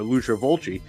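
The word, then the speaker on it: Fulci: something by you know loser volci uh who I pronounce Lucio folsey at the time because I had no idea um and I would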